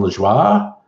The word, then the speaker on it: Lajoie: to reading it phonetically I thought his name was Jon Lajoie but it's like a french-canadian name to John La Jolla and he did very